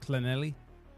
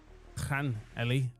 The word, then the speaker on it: Llanelli: Carmarthen Town, if you care about your Welsh football, 1-0 up against Llanelli. Llanelli, I'm led to believe.